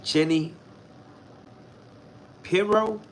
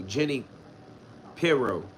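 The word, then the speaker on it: Jeanine Pirro: Yeah, I'm not saying Jenny Pirro. The name be sounding funny. I think that's how you say it though. Jenny Pirro. Because every time I hear the name, I think of Shapiro.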